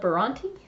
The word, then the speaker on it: Bronte: Afghan and the pillow we're designed by Donna Bronte that's how you pronounce it again all names will be down